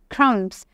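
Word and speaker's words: crumbs: मैंने पढ़ा है ब्रेड क्रंब्स क्राउन ओके तो इसमें जो बी है वो एक साइलेंट लेटर है इसको हम प्रणाम नहीं करेंगे इसको हम क्रमश जो है वो प्रोनाउंस डालेंगे silent letter in first sentence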